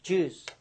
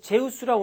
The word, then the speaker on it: Jews: Jews라고 그랬어, Jews. 그래서, 발음을 Jews 하셔야 돼. 이걸 제우스라고 그러는 학생이 있는데, 세상에 이게 제우스냐고. 이걸 조스라고 그러는 학생, 조스. 이게 조스야, 이게? 조스?